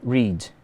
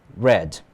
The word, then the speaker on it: read: A diferença aqui do read, no presente e do passado, é na pronúncia. Aqui eu digo read. Aqui, no passado, read. Ok?